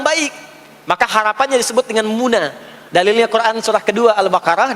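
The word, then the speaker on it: منى: introspeksi dia dimuna ya sebetulnya Muna asalnya bukan Mina sebetulnya Muna tapi boleh disebut Mina karena kebanyakan diucapkan Muna itu harapan menjadi baik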